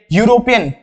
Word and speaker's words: यूरोपीय: यूरोपीय, इसकी शुरुआत 'यु' से होती है; यूरोपीय, यहाँ से; तो 'a' आएगा।